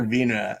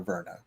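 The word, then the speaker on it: Virna: with the muted celebration they call her vina and here america we're 100 gonna call her verna like i don't have time to pronounce it like other people pronounce it all right this is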